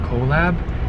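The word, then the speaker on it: Qolab: I'm actually going to this place called Colab. It's spelled Q-O-L-A-B.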